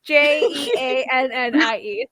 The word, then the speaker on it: Genie: Well, Genie isn't spelt like genie. It's spelt like Genie. So it's Jeannie.